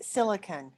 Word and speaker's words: silicon: of a metalloid is silicon and i am not saying that incorrectly um silicone is spelt s-i-l-i-c-o-n-e and silicone is a derivative it's made with a silicon base to it but it is not the same thing silicon is used in